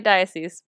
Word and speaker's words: diocese: That is how you say diocese.